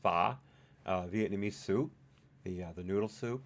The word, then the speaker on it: pho: was I going oh yeah I love I pronounce it pho but I understand it's really pronounced PAH Vietnamese soup the noodle soup with I love